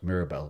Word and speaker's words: Mirabelle: is something called uh it's spelt mirabelle but you have to say like this mirabel is from france and this is from 2005.